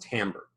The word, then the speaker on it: timbre: It looks like it says timbre, T-I-M-B-E-R-E, but it's actually pronounced timbre.